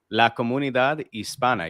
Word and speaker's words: La Comunidad Hispana: La Comunidad Hispana. That's it. We're good. Wait, give me that again? La Comunidad Hispana. You don't pronounce the H.